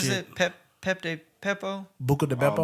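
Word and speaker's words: Buca di Beppo: Buca de Beppo. Buca de Pepo.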